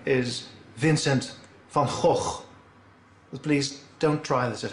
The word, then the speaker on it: Vincent van Gogh: good come on come on the correct dutch pronunciation is vincent van gogh please don't try this at home well what